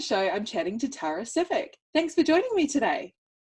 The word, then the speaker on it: Sivec: do they normally say it's normally Tara it's always Tara for my first name and the last name is usually then that make mix